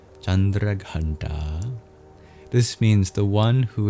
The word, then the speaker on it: Chandraghanta: The third night we celebrate chandra gandi sorry chandra ganta in Sanskrit uh feminine names end with a long vowel often like e or ah in this case it's ah chandra ganta this means the one